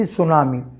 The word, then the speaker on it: tsunami: Sometimes many things are, see tsunami. Tsunami, we are starting with word su, but while writing we will start with letter T.